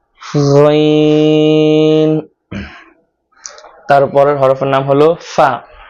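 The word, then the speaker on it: ف: ফাটা সামনের দুটা দাঁত নিচে যে ঠোঁট রয়েছে ঠোঁটের সাথে লাগিয়ে বাতাস বের করে উচ্চারণ করতে হবে। ফা ফা ফা ফা ফা ফা ফা ফা ফা ফা ফা। তারপরের হরফের নাম হলো কফ। কফটা জিহ্বার গোড়া উপরের তালুর সাথে লাগিয়ে তারপর উচ্চারণ করতে হবে।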